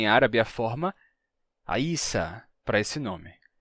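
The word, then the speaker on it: عيسى: entretanto temos também em árabe a forma a Isa para esse nome e aí você se pergunta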